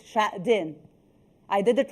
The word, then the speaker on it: Xuejing: I'm doing my own rehearsal to pronounce your name well. So it's Xuejing.